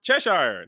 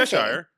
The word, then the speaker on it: Cheshire: Says it's pronounced Cheshire, not What did I say? Cheshire.